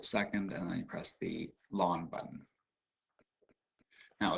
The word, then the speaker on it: ln: actually notated by this lawn x is the same as log base 3 base e of x and the way that you pronounce it is just like grass lawn kind of weird but